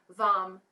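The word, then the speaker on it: vam: goes back to the spine and the seed syllable for this chakra is vom v-a-m vom so taking an inhale into the belly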